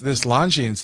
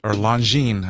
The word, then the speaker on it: Longines: I really like this Longines that just came out. Or Longines. I can always pronounce the S at the end by mistake.